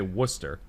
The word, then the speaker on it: Worcester: college uh was uh we'd say worcester it's spelled w o yeah yeah yeah so it's i honestly forgot the r was even in it um so like i'll